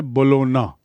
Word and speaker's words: Bologna: उच्चारण है बोलोना, G silent है.